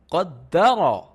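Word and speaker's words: قدّر: So Qaf Dal Fatha. Good. Try to pronounce. Okay. Qad. And Dal Fatha. Try to pronounce. Da. Qadda. So Qadda, and this is Ra Fatha Ra. Qaddara.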